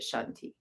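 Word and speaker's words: Santi: by Laura Shanti but she spells it s-a-n-t-i but you pronounce it Shanti so um anyway the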